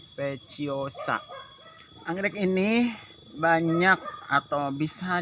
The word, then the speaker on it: speciosa: Jin speciosa nyebutnya special saya dulu saya suka bilangnya spesies tak enaknya kayak gitu ternyata cara membacanya kalau Jin speciosa Anggrek ini banyak atau